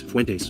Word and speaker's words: Fuentes: But Fuentes is Hispanic. Obviously, his last name is Fuentes, which he insists on pronouncing Fuentes.